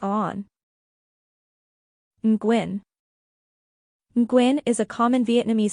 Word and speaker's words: Nguyen: The Ying sound is unique to Vietnamese, and the UI is pronounced like OE, with a slight rising tone.